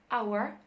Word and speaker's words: hour: لا اسمع الساوند كده هتلاقي الH مش بتتنطق silent ونقول our يبقى انا بسمع ساوند